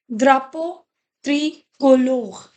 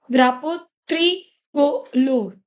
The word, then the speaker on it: drapeau tricolore: See, whenever you have the word this, it has the pronunciation ah. That's why it is dra. Another word is u. It has the sound o. Okay, o, right? So it becomes drapo, drapo tricolor.